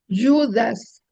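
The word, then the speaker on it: Ἰούδας: Y luego Judas, el acento. Judas. Judas. Ahí se forma tiptongo. Sí. Yudas.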